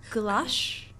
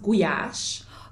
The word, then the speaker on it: gulyás: So Hungarian food, the only food, the only food I know and I had before is goulash. Yes. Am I pronouncing Yes. well? So it's actually pronounced guyash. Goulash.